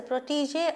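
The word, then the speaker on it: protégé: understand now the meaning my sister is a protege of the famous singer ms subba lakshmi i'm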